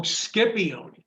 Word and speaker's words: Scipione: this guy max sepioni i pronounce that right from cedar county scipione oh skippy oni yeah and here we